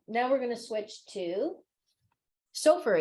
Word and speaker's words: Sofer: Okay, now we're gonna switch to Sofer is how you say your last name, right? That's right.